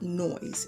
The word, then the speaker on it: Noyz: to me, while I was in Ulta, called Noise. It's spelled N O Y Z.